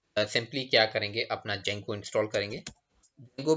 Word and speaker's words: Django: तो तर डायरेक्ट दूसरी बनाले जैसे मैंने एक जंगो प नाम की डायरेक्टरी य परट की है